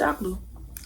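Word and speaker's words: Alcolu: Two elderly women in Akolu, and it's so hard to pronounce this city name. Akolu. Girl, it's just Akolu.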